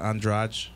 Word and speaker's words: Andrade: roster of the UFC, Jessica Andraj, and that's how you pronounce it, but it's Andrade if you spell it out.